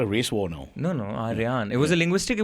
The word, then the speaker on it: Aryaan: That's for the longest Aryan. time. You're going to start a race war now. No, Aryaan.